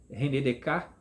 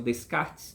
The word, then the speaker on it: Descartes: científico ao método cartesiano de ren Dek que que algumas pessoas pronunciam Descartes né mas é o nome francês ren Dek e a